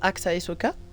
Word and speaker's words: Axaehsoka: pseudo il se prononce AXA Soka mais le problème c'est que le S entre deux voyelle ça fait Z attends pourquoi j'ai un